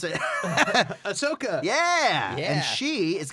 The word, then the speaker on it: Ahsoka: character is of course you know how to pronounce it ahsoka yeah yeah and she is going to be